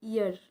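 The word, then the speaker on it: heir: यहां पर है dash year of this kingdom तो यहां पर क्या यूज होगा यहां पे एच साइलेंट है ठीक है तो ईयर बोला जाता है इयर ईयर तो ये इसमें क्या यूज़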